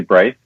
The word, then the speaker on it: Braithe: I do get some interesting pronunciations of my name. But yeah, Braithe is new. It's actually Braithe.